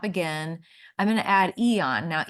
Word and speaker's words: Aeon: It's pronounced Eon, but it's spelled AEON.